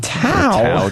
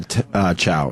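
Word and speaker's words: Tso: I go General Chow. Yeah, It's not Tao. Yeah. Sao.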